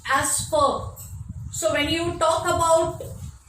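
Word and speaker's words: vier: pronounced as Volkswagen, because in German V is pronounced as F, and in German 4 is written this way, V-I-E-R.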